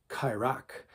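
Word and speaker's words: qairaq: Q, letter Q is called a kairak. It's pronounced, it's Q-A-I-R-A-Q.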